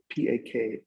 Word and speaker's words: pak: For example, they have an instrument called pak, P-A-K, pak, or sometimes B-A-K, pak, depending on how you pronounce it.